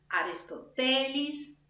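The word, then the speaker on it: Αριστοτέλης: name I know, Aristoteles, which in Greek would be like pronounced on another syllable. It would be Aristotelis, but it's excellence.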